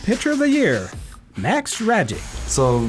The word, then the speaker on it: Rajcic: of the year, Max Ragic. So last name's Ragic, it's pronounced like magic, so I'm just a big magician guy. I can do a couple card tricks. That's when we return. Max Ragic won Cardinals minor league